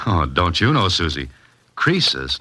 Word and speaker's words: Croesus: He's a regular Crisis. A what? Don't you know, Mr. Holiday? Crisis was a rich king. Oh, don't you know, Susie? Croesus, not Crisis, was a rich king.